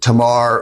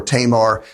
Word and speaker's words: Tamar: basically about two people, Amnon and Tamar or Tamar. Tamar is kind of the anglicized way to say her name, and that's probably the one I'll go with today.